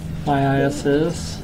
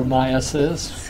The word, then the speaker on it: myiasis: don't waste my time my ISS or myiasis whichever way you want to pronounce it kind of busy Germans